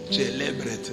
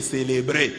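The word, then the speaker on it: celebret: C'est comme ça qu'un prêtre prononce célébret. Mais lui a dit on a pris les célébrés.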